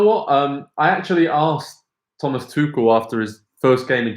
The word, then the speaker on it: Tuchel: I'm going to pronounce that correctly. There's different ways you can pronounce it, but Thomas Tuchel is what we're going with.